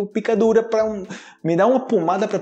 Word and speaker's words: pão: um pão francês pão mas a pronúncia aqui o pessoal fala espanhol é pau e pau também pode